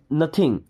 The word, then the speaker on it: know: okay I नो everything देखिए यहां पे के साइलेंट होता है ना इसे पढ़ते हैं नो आई नो मींस मैं